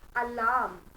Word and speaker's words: alarm: तो रूल ये है that it's not alarm, it is alarm. और क्यों? Because R is after a vowel जो है A.